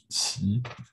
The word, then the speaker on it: Qi: It's pronounced Qi.